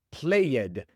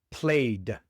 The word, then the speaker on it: played: Pero tienes que recordar que no se pronuncia la e. No es worked ni played, es simplemente worked, played.